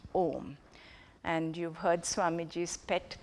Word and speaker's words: Om: And that's why this combined with this is pronounced Om. And you've heard Swamiji's pet peeve. That is his pet peeve. Do not pronounce. Technically, it is not right to pronounce it as Aum, A-U-M, though I know